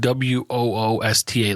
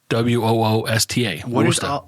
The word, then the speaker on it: Worcester: It's pronounced like WOOSTA, like Worcester, right? No, it's WORCESTER. That's correct. No H, but it's pronounced like Worcester. WOOSTA.